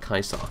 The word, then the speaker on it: Caesar: There is no soft C in the Latin alphabet, so the Romans would have called Caesar Kaiser as well.